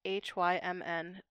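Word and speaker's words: hymn: well which ones which so h-i-m is him and then hym n there's a difference but it's like him yeah there's almost like a pre voicing going on with a little bit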